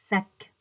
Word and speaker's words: sac: livre de cartes géographique AC à la fin d'un mot peut se prononcer hack comme dans sac le son a peut